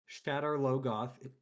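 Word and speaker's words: Shadar Logoth: Of all the things in in Wheel of Time where you could get into a pronunciation dispute. Shadowlogoth That's the last one cuz I've never heard anybody who's ever read this pronounce it differently than from what I pronounced it as or uh you know, as it was in the glossary.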